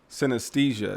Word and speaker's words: synesthesia: on talk about because you you spoke on synesthesia is that how you say it yep that's